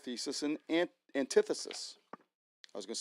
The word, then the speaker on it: antithesis: And now I want to share with you another theory, and that is called thesis and antithesis. I was going to say antithesis, but that is not how you pronounce it.